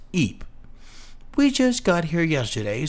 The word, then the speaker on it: Ypres: It's spelled weird, I know, but it's pronounced Eep.